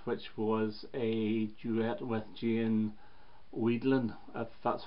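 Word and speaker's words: Jane Wiedlin: with cool places which was a duet with Gian Wiedlin that's how you pronounce her name the girl the gurus it's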